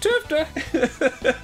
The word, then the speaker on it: TFTA: tfta influenza last year it's pronounced tupta caduceus wants me what